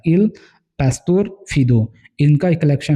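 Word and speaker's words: Il Pastor Fido: इनका एक वर्क है गरिनी का जिसका नाम है इल पस्तोर फीदो इसे ऐसे ही प्रोनाउंस कीजिएगा आप इल पस्तोर फीदो इनका एक कलेक्शन है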